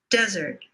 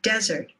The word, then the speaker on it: desert: Desert. Red pepper. Desert.